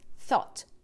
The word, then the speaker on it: thought: a sua escrita então uma palavra como essa aqui por exemplo eu sempre dou esse exemplo porque ela tem sete letras e apenas três sons o thought thought então PR é muito mais simples do que a escrita então não fique querendo pronunciar cada letra do inglês Ah mas pera aí Por que que eu não pronunciei esse esse G aqui quando você estuda a